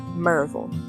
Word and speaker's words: Maryville: Maryville is commonly pronounced as Merville here in town.